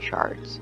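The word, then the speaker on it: sherd: Treasures such as Pottery shards I know they are spelled curd but they are pronounced the same and you can find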